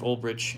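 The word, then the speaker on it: Ulbrich: It's just about if it'll pan out and if Jeff Olrich, and that's how you say his name, uh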